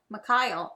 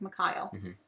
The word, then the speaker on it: Mikhail: Mikhail. Oh, that's right. Sorry, it's Mikhail. I always pronounce that wrong.